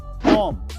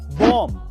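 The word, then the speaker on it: bomb: And last number 4, अगर किसी word में एम के बाद बी आए तो उसमें बी साइलेंट रहता है, जैसे कि बॉम्ब, बॉम्ब, थंब, डम।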